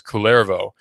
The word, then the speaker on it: Kullervo: Clairvaux or yeah Kullervo c or k ull ERV oh that's k ull ERV oh I believe it spelled pronounce clairvaux and the work is